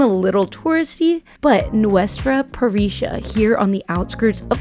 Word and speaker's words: parrilla: So finally we've learned that in Argentina, the double L's are pronounced sh.